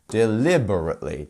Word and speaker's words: deliberately: here we have delber five syllables here which one is our stressed syllable where are our stress syllable Marks here it's here right in the second one deliberately deliberately so you want